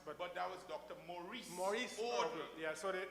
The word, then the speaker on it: Maurice: And in fact, Maurice in Guyana is pronounced as Maurice, correct? Yes. And Morris is pronounced as Morris.